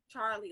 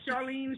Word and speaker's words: Charlee: pronounce your first name charlie like charlie brown okay that's why i was like charlene sharla i was like okay your favorite character charlie brown okay well now